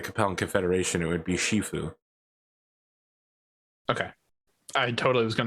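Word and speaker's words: 师父: confederation it would be shifu okay i totally was going to pronounce it as shifu just because yes that's correct yeah the way i pronounced it was cantonese and japanese so that's that's the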